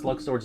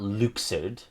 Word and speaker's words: Luxord: die for these pronunciations it's luxord not luid luid my boy I don't